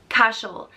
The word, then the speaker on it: Cashel: means stone force and it's pronounced cash cashel and it's spelt c-a-s-h-e-l in